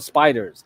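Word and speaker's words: SPDR: these are called the spiders SP PDR they just pronounce it spiders don't ask me why but these are the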